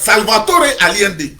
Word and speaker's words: Salvador Allende: Si tu es en français, tu as dit Salvatore. Mais je prononce ça comment? Comme les Espagnols, Salvatore Allende.